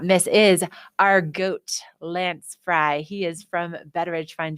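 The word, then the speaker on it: Frey: and i'm with lance frye yep f-r-e-y but it's pronounced fry i was thinking fray and they have an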